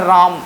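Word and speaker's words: ram: रैम, देखो एक और हम लोग पढ़ते हैं राम, भगवान जिसको आप कहते हैं, और राम जो इसका प्रोनाउंसिएशन भी राम हो सकता है, लेकिन यहाँ पे रैम पढ़ देना।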